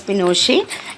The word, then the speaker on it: Pinochet: power passed on into the hands of General Pinochet P I NOC Sgt and it is pronounced as Pinochet and he was a military commander so he